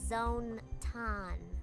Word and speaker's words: Zonton: Between her mascot, Zonton, It's pronounced Zone Ton.